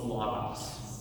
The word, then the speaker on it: logos: And so like the word logos, you'll hear me in say loss. And the way that I was taught was logos. So that that that O isn't O, it's A.